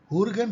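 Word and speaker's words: Jürgen: हुर्गन Habermas, yes इसका pronunciation हॉ से होता है, हुर्गन हैबरमास, जो कि सेकेंड जनरेशन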